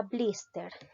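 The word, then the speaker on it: blíster: Por ejemplo, la palabra blister. La mayor fuerza de voz recae en la sílaba bliss. Por lo tanto, es una palabra grave.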